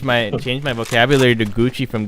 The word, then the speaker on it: Gucci: these guys changed my change my vocabulary to gucci from gochi well thank you for that you definitely uh